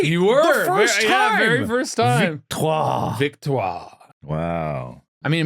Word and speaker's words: Victoire: The name in France it is pronounced as Victoire. Victoire. right. You were. The first time. Victoire.